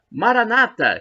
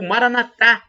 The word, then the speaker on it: Maranata: de Jesus, o aramaico, Maranata, como dizem os protestantes ou evangélicos, com a tônica na penúltima sílaba, ou Maranatá, como dizem os católicos, com a tônica na última sílaba.